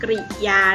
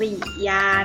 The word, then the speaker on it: กริยา: มา สอน เรื่อง คำ กริยา นะ คะ คำ นี้ อ่าน ว่า คำ ริญา นะ คะ ไม่ ได้ อ่าน ว่า กิริยา เนาะ ถ้า เป็น ชนิด ของ